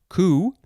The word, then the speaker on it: coup: form of this word spelled c-o-u-p but this one is pronounced ku noun from 1791 one